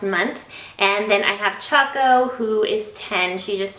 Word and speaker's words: Choco: and it is pronounced Chaco kind of like choco taco you know I didn't